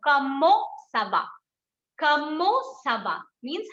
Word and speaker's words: comment ça va: So T we are not going to pronounce, E-N we are going to give a on sound. So comment ça va.